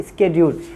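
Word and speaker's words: schedule: और third one इज शेड्यूल जिसका सही प्रोनाउंसिएशन है स्केड्यूल।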